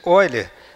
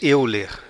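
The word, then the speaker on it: Euler: Essa pronúncia Oiler, aqui no Brasil a gente diz eer, né? Mas em alemão esse eu fala oi.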